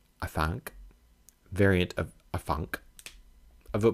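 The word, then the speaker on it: Afanc: to slay his monster, an Adank, pronounced Afank, variant of Afank, of a place called Lilion, at Wales.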